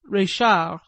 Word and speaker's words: Reichardt: the establishment of madame reichardt pronounced a la francaise reshar where i felt that